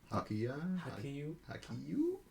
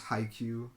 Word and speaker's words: Haikyuu: I don't even know how to pronounce that one. Hakiyu? No, they use it right. Pretty sure it's Haikyuu.